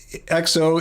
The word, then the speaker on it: EXO: And we saw one a few years ago from one of our favorite bands, XO EXO it's spelled.